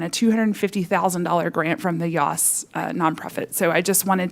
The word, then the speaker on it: Yass: for something called the YOS Prize, and that is considered what is called a Pulitzer for Education Innovation. The YOS Foundation, it's spelled like YASS, like Bass, but with a Y.